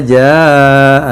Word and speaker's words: جاء: Jaa itu dibaca 5 harokat. Betul itu bacanya, Masya Allah. Itu kalau nggak salah itu namanya, nanti dikoreksi ya kalau saya salah. Ja'a, karena itu mat ketemu hamzah dalam satu kata.